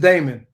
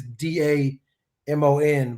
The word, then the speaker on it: Daemon: Yeah, that it's pronounced the same way.